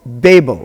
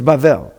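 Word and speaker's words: בבל: right, and you see in the English, oh, Babel or Babel. Now you know it's not pronounced either of those ways. It's Bavel.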